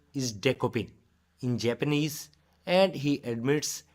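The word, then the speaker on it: Dekopin: his share that his furry friend's name is decopin in Japanese and he admits it might be a bit challenging for Americans to pronounce correctly but fear not as he gracely provides an Americanized version decoy watch the full press conference to catch show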